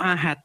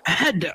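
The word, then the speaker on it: أحد: Bacanya bukan Qul huwallahu ahad, tapi Qul huwallahu ahad. Harus ahad gitu.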